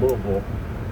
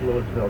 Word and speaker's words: Louisville: As long as you don't pronounce the hard S, we're in good shape. Yeah, good stuff. Louisville.